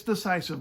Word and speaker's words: decisive: way well on the first matter it's decisive but on the second one it's divisive and you know to air